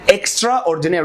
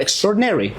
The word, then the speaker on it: extraordinary: هي مش كلمتين، هي كلمه واحده، فبينطقوا على كلمه على الباك جراوند بتاعه في كلمه اكسترا. فيقول لك اكسترا اوردينري، لا هو extraordinary.